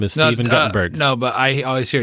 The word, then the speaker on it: Guttenberg: Well, it's weird because his name is actually spelled Guttenberg, but they say Gutenberg, so that's weird. It's pronounced Guttenberg, actually. His real name is Stephen Guttenberg.